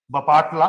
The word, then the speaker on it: बापटला: बापटला एक जगह का नाम है, एक जिला है वहां पर, बपाटला, बेसिकली प्रोनाउंसिएशन बपाटला ही होगा इसका।